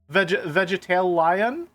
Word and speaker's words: Vegetal Lion: Did you know that Vegetal Lion is a play on words, and you're supposed to say it like vegetarian? Oh, vegetarian? Vegetalian?